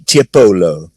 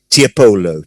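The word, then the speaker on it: Tiepolo: printer by the venetian giovanni tiapolo i can repeat any there's a lot of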